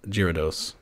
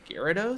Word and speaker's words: Gyarados: chewbaccas or one regular-sized gyrados it's pronounced gyarados i don't know jesus